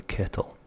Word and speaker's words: kettle: We're going to boil the kettle. No, we're not. We're going to put on the kettle. Kettle. K-E-H. Gap. U-L-L. That's how I would phonetically spell it.